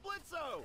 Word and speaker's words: Blitzo: Hey, that sounds like Blitzo! The O is silent, asshole!